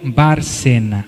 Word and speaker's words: Barcena: Alberto Barcena. Alberto se escreve igual a português, Barcena, B-A-R-C-E-N-A.